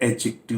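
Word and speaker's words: adjective: अगला शब्द, मैंने अभी टीचर्स की चर्चा की थी कि ग्रामर के इस टर्म को इवन टीचर भी एडजेक्टिव बोलते हैं, जबकि डी साइलेंट है, यह एडजेक्टिव है।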